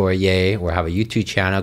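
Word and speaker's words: Yeh: a y right yeah yeah C yay C yay yeah it's y e h sorry it's pronounced as yay uncore ye h on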